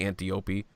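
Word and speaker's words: Antiope: girls and in that they specifically say auntie Opie and when it comes to pronunciation of characters names DC superhero girls is the standard by which I judge others so yeah the Amazons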